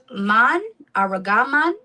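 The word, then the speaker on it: ארגמן: Aragaman correct?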